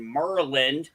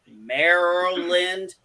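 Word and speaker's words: Maryland: california avp lives in merlin yes i said merlin deal with it that's how i pronounce it do you know how hard it is for me to say merrell lind i know it drives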